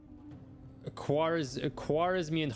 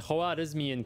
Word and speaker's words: Khwarizmian: Khwarizmian, Khwarizmian cavalry. That's how it's supposed to be pronounced.